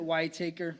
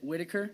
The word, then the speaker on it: Whitaker: it's y taker I pronounce it why taker my family household pronounces it Whitaker Whitaker yeah I just